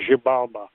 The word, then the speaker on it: Xibalba: Yeah, the X is G. It's Xibalba. It's a Mayan name.